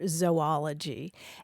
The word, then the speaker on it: zoology: Well, the super traditional scientific pronunciation would be a long O sound, like zooplankton or zoology. And the reason is that they go back to a Greek stem that means animal that gives us that ZOO.